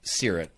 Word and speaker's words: Seerut: pronunciation of Seerut?